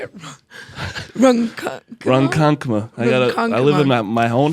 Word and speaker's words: Ronkonkoma: Ronkonkoma.